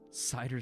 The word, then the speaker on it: CIDR: Cider stands for something? Yeah, and I pronounce it cider, and I think that's actually, I think we had looked it up once. That's how you pronounce it.